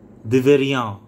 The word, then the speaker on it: deveria: আপনারা ঠিক আছে তাহলে দিবেরিয়া দিবেরিয়া দিবেরিয়া ঠিক আছে আই এম ঠিক আছে এটা ইয়াম হবে না দিবেরিয়া রা এর মত একটা উচ্চারণ হবে আর দিবেস এর ক্ষেত্রে